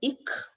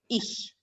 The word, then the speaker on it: ich: So this word is not ik, but ich.